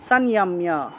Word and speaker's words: সংযম্য: আচ্ছা, তারপরে কর্মেন্দ্রিয়াণি সংযম্য, অনুস্বার শব্দের মাঝখানে আছে সেজন্য ন উচ্চারণ হবে। কর্মেন্দ্রিয়াণি সংযম্য, ময়ের সাথে জফলা থাকায় মিয় উচ্চারণ। ইয়ো আস্তে, জ আছে উচ্চারণ হবে ইয়া।